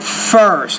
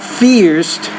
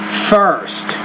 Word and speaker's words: first: He became the first of his family to go to Again, the word first, not fierced, but first.